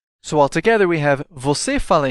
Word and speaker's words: você: Notice the strong part of the word, or stress, is on the last syllable.